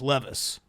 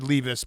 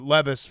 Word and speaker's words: Levis: how to pronounce names levis we also heard levus but levis was what shannon said so that's what i'm going off of will how do you